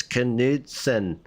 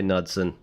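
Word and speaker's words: Knudsen: built by Morrison nudson I know some of you will be like it's kidson we'll say nudson silent k and then the F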